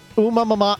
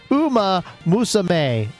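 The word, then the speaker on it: Uma Musume: Umamama. Oh, God. I'm sorry. I mispronounced it again. He says it's pronounced Uma Musame.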